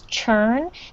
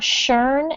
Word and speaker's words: churn: Be careful when you pronounce churn that you really make the ch sound in the beginning. So it's not churn out, it's churn out.